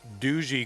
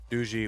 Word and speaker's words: Duzy: And anytime I try to pronounce, you know, names from Poland, I'll be like, "Douche." And they'll be like, "No, it's doo." I'm like, "Oh, like dooie." No, it's doo. Oh, okay.